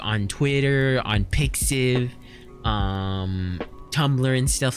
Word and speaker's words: pixiv: Wait, it's not pronounced Pix 4? Wait. What? Why not P94? Why not P94? Also, hi Palucci, how you doing? Okay, Marky swears it's pronounced Pixiv.